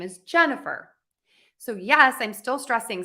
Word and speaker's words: Jennifer: So my name, Jennifer, has 3 syllables. Jennifer.